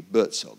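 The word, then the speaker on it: Buurtzorg: It's B-U-U-R-T-Z-O-R-G. Bertzog. That's how you pronounce it.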